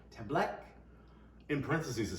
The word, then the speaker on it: Tembleque: Tembleque. Tembleque.